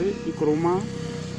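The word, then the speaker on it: Nkrumah: क्वामे नक्रोमा, pronounce इक्रोमा, सन of gold Smith and himself a teacher.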